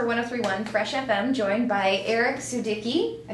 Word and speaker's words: Aric Sudicki: Hey, it's for 103.1 Fresh FM, joined by Aric Sudicki. I said it right? Yes, Kinda? It's Aric Sudicki.